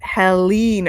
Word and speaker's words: Helene: So Linda says, by the way, it is Helene. Okay. So that's the right way for me to pronounce it.